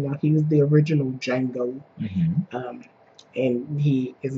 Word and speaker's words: Django: But anyway, we are here to talk about Django. D is silent.